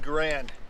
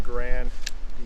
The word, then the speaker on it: Garand: And I say Garand, I know some people say Garand is the correct pronunciation, but those are the same people that probably say croissant instead of croissant, right? Yeah, it might be the correct pronunciation, but you sound like a pedantic idiot saying it.